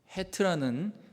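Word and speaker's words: חית: 근데 원래 발음은요, 우리나라 발음에는 없어요. 히브리의 그 언어와 또 독일어 이런 데 있는 이제 발음이에요. 헤트.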